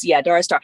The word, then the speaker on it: Dara Starr: Hey, so you will be the first to use Dara Star. And it also helps with the pronunciation too, I think, because a lot of people do say Dara. And then Dara. Sometimes I hear Dora or whatever, but to connect Dara with Star, it's like they sound